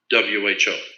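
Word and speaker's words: בֹהוּ: Vohu would be Voewho, tohu, vohu, waste, desolation.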